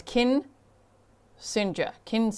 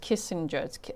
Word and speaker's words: Kinsinger: Got to say it right. It's Kinsinger. It's not just Kissinger.